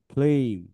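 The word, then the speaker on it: flame: ফ্ল এ এই ম ফ্লেম ফ্লেইম ফ্লেইম কারণ এখানে সাইলেন্ট ই আছে আচ্ছা এটা কি হলো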